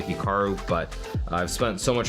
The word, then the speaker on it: Hikaru: pronounce Hikaru nak now even myself when I pronounce my name it's definitely more Americanized versus Japanese certainly I was pronouncing it correctly it would be more like Hikaru as opposed to Hikaru but I've spent so